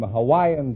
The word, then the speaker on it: Hawaii: I'm from Hawaii Hawaii is that the correct pronunciation I thought it was how I know that's not right Hawaii is correct oh you couldn't say Hawaii I